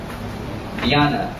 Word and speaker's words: Diana: she wanted something more Diana Diana in its original Latin but pronounced like the princess in cities found her